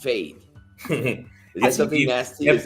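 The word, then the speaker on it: Feid: But production says that it's from Fade. F-E-I-D. I guess it's pronounced Fade.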